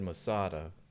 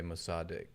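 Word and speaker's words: Mossad: closer than me because I said Mada and it's more closely it's more to say more correct to say mosad mosad Zar habits don't Google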